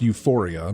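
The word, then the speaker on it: Ufouria: sure well I'm sure the game is pronounced Euphoria but it's spelled u f o u r i a close enough well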